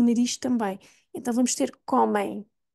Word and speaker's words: comem: boca e pelo nariz também então vamos ter comem e este som na verdade não acaba notem